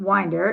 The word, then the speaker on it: Winder: The name Winder is pronounced wine-der. The I is long. I sound like in wine or tie. Wine. The E is pronounced like in mother. Winder.